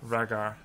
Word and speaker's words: Rhaegar: Pronounce it like Valera. Rhaegar.